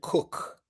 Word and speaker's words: Koch: no, or is it coach or something like that? She pronounces it Cook. Cook. But there are multiple ways you can pronounce that last name.